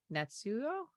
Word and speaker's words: Natsuyo: I'm hoping I'm pronouncing this correctly. Natsuyo? Yes, you got it right.